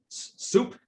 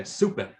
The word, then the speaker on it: Suppe: Mark's papers and in Soup, is that how his name is pronounced, or Sup? Anyway, so Soup or Sup describes Mach's attitude as such. It's super. It's German. Okay, Suppe.